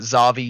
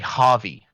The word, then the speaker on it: Javi: pronunciation change we will we have been calling uh xavi xavi it's actually javi we've got that that